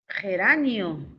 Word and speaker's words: geranio: Geranio, es una planta, sí es geranio. En geranio hay diptongo, o sea, es correcto. Al decir geranio ya estábamos hipercorrigiendo, ¿no? Estábamos planteando una hipercorrección.